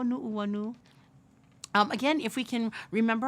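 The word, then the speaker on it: Nuʻuanu: go through pronunciation first, remembering that Okina is going to break that sound. So we're going to say Uanani o Nu'uanu.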